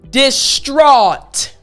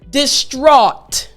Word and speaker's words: distraught: So when you have A-U-G-H-T together, the sound is actually similar to A-W-E.